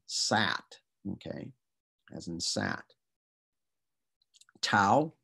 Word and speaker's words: tau: okay as in sat tau which pretty much looks like a t and it is t is in tub yup salon which looks